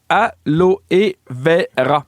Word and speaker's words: aloe vera: Alors l'aloe vera se prononce en français aloé vera en prononçant le e à la fin de aloé.